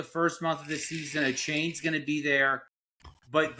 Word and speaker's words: Etienne: now, even though we all know him as H-Han. A chain is how you pronounce it. A chain.